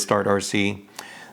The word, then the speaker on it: STARTRC: i was trying to figure out how to pronounce the company name i did ask them and it is start rc the products that they sell that i i